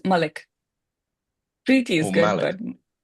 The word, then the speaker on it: Malik: It's Malik.